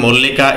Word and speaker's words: মল্লিকা: Next রয়েছে মল্লিকা ইজ a nice girl, দেখো এর উচ্চারণ কিন্তু আ হয় কিন্তু, ঠিক আছে।